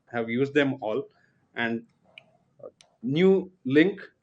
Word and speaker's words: Nuelink: used them all and New Link am I pronouncing it right New Link yes okay new link got me